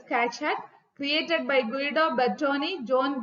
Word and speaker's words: Keccak: kak kak that is we have to pronounce like this Kat created by guo Boni